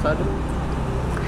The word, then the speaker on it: Sade: Bukannya di lombok tengah Sadee. Dibacanya Sade apa Sade. Sade. Sade. Bisa sade.